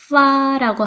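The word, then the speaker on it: 发: 그럼 왜 팔자를 좋아할까요 여덟 팔의 발음은 빠라고 하고요 돈을 많이 벌다 부자가 되다 할 때 발음은 파라고 합니다 자 빠와 파 어때요 비슷한가요 예 발음이 비슷하다는 이유로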